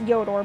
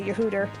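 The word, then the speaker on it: Yhoator: jungle and you Hooter I know it's actually pronounced yor by the way but it's just so much funner to say yoter hello people be here yes yeah there you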